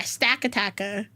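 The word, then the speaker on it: Stakataka: Yeah, Stack-a-Tacka.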